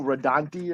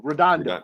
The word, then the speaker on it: Redondo: the guy's name again Bruno radonti or how do you say his name but he's been the guy that's been on all the night Redondo Redondo okay yeah doing the art